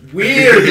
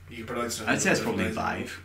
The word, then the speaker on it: Wii: be vi vi Vive a Viva it's VI you say probably VI sounds terrible it's like valve